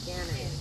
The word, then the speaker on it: Kennedy: Kennedy. Yeah, like John Candy with an extra syllable. Yeah, Kennedy. Like Canna-D.